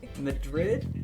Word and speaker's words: Madrid: your last name, but Angelique Madrid? Yeah, like the capital of Spain. Oh, okay, that's what I was thinking. Okay. You were correct. Alright, I was overthinking it then. Angelique Madrid.